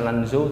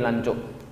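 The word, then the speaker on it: Lanzhou: turun di langsung ini ini bacanya bukan lanjut tapi lancuk pas sampai dilancok Kenapa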